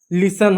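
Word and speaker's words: listen: कुछ शब्दों में जब एस टी एल एफ टी एन या पी ए एस टी एन जैसे पैटर्न आए तो क्या होता है? टी साइलेंट होता है।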